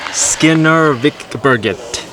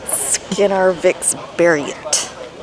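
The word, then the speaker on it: Skinnarviksberget: Skinnervikberget. Skinnervikberget. That's what I said. No, you pronounce the G as a G. G's are pronounced as a Y here.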